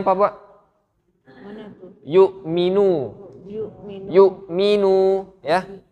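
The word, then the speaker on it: يؤمنون: ini bacanya apa pak yu'minu yu'minu ya di sini ada Hamzah Hamzah ini dia tidak bergabung dengan badan huruf artinya dia ada dua versi baca ada yang baca yu'minu ada yang baca yummy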